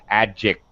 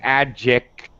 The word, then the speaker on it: adjective: what i'm doing adject i'm not releasing it i'm putting my tongue back in the position where i normally say k sound and instead i just slide my tongue on my roof of my mouth and then i aspirate then i release on the t so instead of saying